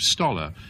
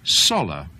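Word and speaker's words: Sollers: became eventually her husband, Philippe Stoller. And the person who was listening to me going on in this way said, I think probably most people would say Soller. So I'd stuck a T in, and this was a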